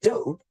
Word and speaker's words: dough: But if we look at the words thorough and dough, the GH is silent.